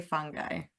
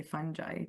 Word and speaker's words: fungi: do you say it I say fun guy but I guess you can say fun guy too depends I guess if from I don't know maybe from the UK If or from the US uh pronunciation so but